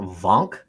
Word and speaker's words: Vonk: their base is under is called Mount Vonk, but it's spelled like Mount Wank, like WANK.